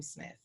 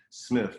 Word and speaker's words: Smith: but and i always it's spelled the correct way right smith but i've always pronounced it with like smith with two f's you know what i'm